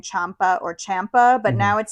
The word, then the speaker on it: Ciampa: as to whether they were saying Ciampa or Ciampa, but now it sounds like they've all unified saying Ciampa. So I guess I will also say Ciampa.